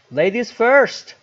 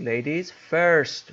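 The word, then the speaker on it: ladies first: بده اوکی بریم بعدی لز فرست لز فرست نگفتم فرست آرش آ اگه تلفظ درست بخواید بکنید لیدیز فرست فرست لز فرست اول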